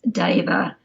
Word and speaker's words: deva: why it's normally pronounced deva it's like the maori e or the italian e it's not it's not an e it's an s sound so it's kind of goes into the a so deva is a sanskrit word